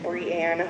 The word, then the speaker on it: Brianne: start down here with brianne i'm not pronouncing your name thank you good morning no i always say it's brie like the cheese because that's a lot easier to remember than brienne often and there's a lot